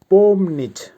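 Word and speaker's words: помнить: এর বাংলা হবে ওয়াশ করা বা ধোয়া ভার্ব পম নিচ আবারো বলছি উচ্চারণ হবে পম নিচ পমনিচ এর বাংলা হবে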